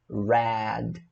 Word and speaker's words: read: Aí você não vai falar read, você vai falar read. O que muda é a pronúncia.